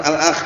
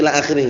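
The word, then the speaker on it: إلى آخره: ada singkatan seperti itu bacanya bukan alakh itu paham ya bacanya Il akhiri paham belum Nah lafaznya itu ada singkatan itu kan Nah karena kalau orang belum tahu Misnya alakh itu bacanya paham ya Tapi itu bnya bukan alakh tapi Ila akhir singkat Nah hardani ini kewajiban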